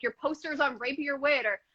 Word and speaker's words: Rapier Wit: and then you're at like your posters on Rapier Wit, or how do you pronounce that? That was a serious question. Rapier Wit, yeah, that's correct.